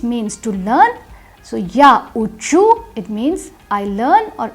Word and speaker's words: учу: In the ya form the stress is on the ending, and in the remaining forms the stress moves to the stem. So ya uchu, ti uchish, on uchit,